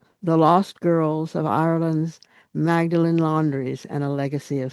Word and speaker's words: Magdalen: It's called The Fallen, The Lost Girls of Ireland's Magdalen Laundries and a Legacy of Silence.